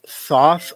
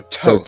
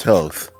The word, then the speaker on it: Thoth: Actually, how the first H is silent. So Toth. Toth.